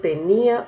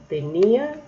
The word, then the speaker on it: tenía: Miren la diferencia en la pronunciación. Mi hermano tenía una tenia. Tenía, del verbo tener, lo diferencio poniéndole tilde, y tenia sin tilde, entonces sería ese nombre.